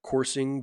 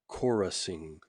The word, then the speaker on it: chorusing: Sorry, no, not coursing, but chorusing. Chorusing.